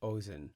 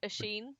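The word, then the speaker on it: Oisín: Finn's son, the poet Ozen. Ozen I think it's Ashen. Ashen. Is it like O I S I N. Yeah. Yeah. That's often pronounced Asheen.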